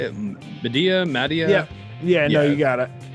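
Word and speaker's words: Madea: And he straight up looked like Medea. Is that how you say it? Medea?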